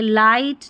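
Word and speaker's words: light: देखिए लाइट, नाइट, हाई, यहाँ पर GH का उच्चारण नहीं हो रहा है, GH साइलेंट है।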